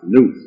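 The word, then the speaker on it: nous: and ancient philosophy nubu is failed n-o-u-s and pronounced news nuku is the cosmic reason also called sound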